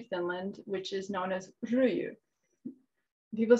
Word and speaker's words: ryijy: And one of those is another traditional form of weaving in Finland, which is known as ryijy.